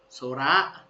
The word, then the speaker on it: 空: ครับ โอ๊โตะ ถัด มา ตัว ที่ 3 โซ โซระ นะ ครับ ท้อง ฟ้า ตัว ที่ 4 กับ